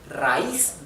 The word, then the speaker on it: raíz: And the I, which is the weak syllable, the weak vowel, is where the accent or the stress or the intonation goes, okay?